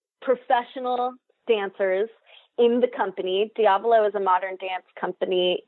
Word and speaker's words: Diablo: Is that how it's pronounced? Diablo, yeah.